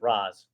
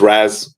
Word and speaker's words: Raz: Is it Raz or is it Roz? It's Raz.